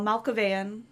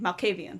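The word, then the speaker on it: Malkavian: Um, in addition to that, um, Fabian, Amala, Al Malavean, Malcavian, Malcavian, that's how you pronounce it. Malcavian vamp detective vampire is trapped within your blood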